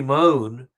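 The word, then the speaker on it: Mone: moon it is spelled m-o-n-e and it is pronounced as moon like m-o-a-n relating to the ppe business awarded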